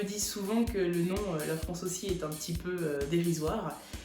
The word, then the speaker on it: La France Ô Si: On me dit souvent que le nom La France aussi est un petit peu dérisoire. Lorsque ma fille le prononce, elle dit la France aussi.